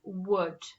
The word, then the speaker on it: would: Okay, so this is one of our tricky words, and it's tricky because when we sound it out, it doesn't sound how it is spelled. So the word is would.